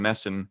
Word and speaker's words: NESN: With Jack Edwards and his partner on Nesson. Is it Nesson or NESN? I don't know how to pronounce that. I think you can get away with Nesson.